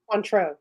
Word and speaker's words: Cointreau: Oh, Cointreau? Cointreau, yes.